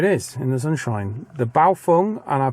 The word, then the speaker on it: Baofeng: The Baofeng, and I pronounced that correctly, I'm sure, because I got a lot of messages about me not pronouncing the name right. So it's Baofeng, I've been told.